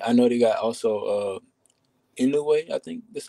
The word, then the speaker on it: Inoue: I know they got also Inoue, I think that's how you pronounce Inoue, it. Inoue, yeah.